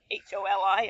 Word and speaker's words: Holi: I don't know if it's interesting at all, but it's also based on the Indian Festival of Holi, Holi, I guess that's pronounced.